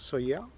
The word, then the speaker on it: Sóller: port naturel de sawyer alors ça s'écrit solaire mais ici il prononce sawyer et c'est encore un